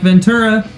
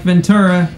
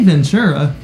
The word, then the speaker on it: Ventura: They tell me I need to say it like Ventura. So I'm gonna say it like Ventura, even though my mind really wants to say Ventura.